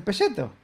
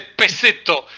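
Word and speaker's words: peceto: Yo lo que he comido es el pelleto. No, ya sé, pero se dice peseto. Y si podés pronunciarlo, escupíale en la P si podés.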